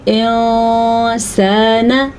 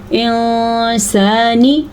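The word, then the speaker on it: إِنسَانًا: اخفا ہوا ہی نہ۔ اخفا کا مطلب ہے نون کو کسی حد تک چھپا کے پڑھنا، تو ہم اس کو پڑھیں گے انسانا، یہ نہیں ہے انسانی، تو آپ فوکس کریں اخفا کی آواز کے اوپر۔ بعض اس کو پڑھتے ہیں انسانی، وہ تھوڑا کچھ زیادہ ہی اخفا ہو جاتا ہے۔ اصل میں کسی حد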